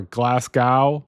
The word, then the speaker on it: Glasgow: I don't know whether it's Glasgow or Glasgow. I'm going to pronounce it Glasgow because that's the correct Scottish pronunciation.